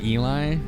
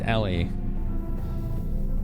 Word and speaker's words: Ellie: was so freaking funny everyone calls you Eli but it's Ellie yeah we're considered rebranding